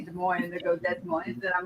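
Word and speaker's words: Des Moines: can never pronounce it just so you know de MO is spelled Des Mo the s's are silent that's a slogan here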